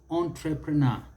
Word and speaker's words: entrepreneur: and commonly used is entrepreneur entrepreneur the americans will put it entrepreneur until no by the british entrepreneur entrepreneur the stress is on that last syllable because it's a long word for syllables but it is the